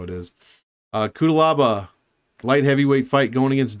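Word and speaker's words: Cuțelaba: Kutalaba. Like I'm saying, like, I'll just pronounce it how I want. I like it this way. No, I think that's how it is. Kutalaba.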